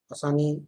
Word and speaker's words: Asani: This is cyclonic storm Asani, pronounced as Asani, over southeast of Bengal, moved northwest parts with